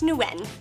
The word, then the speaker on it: Nguyen: That's Nguyen, as in, Nguyen is this day going to end.